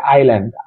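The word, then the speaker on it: island: আই আই এস আই এল এন ডি ল্যান্ড আইল্যান্ড, আই এস আই এল এন ডি ল্যান্ড, এস এর উচ্চারণ উচ্চ থাকবে, আইল্যান্ড অর্থ দ্বীপ, দৈবায় দীঘি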